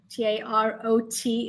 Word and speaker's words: tarot: Just to clarify, the tarot, R Tarot, is pronounced as tarot.